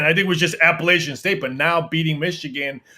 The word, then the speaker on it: Appalachian: states i'm like i think i spelled their name wrong when i was typing it on the sheet saying it wrong too it's appalachian yeah see appalachian state they don't play about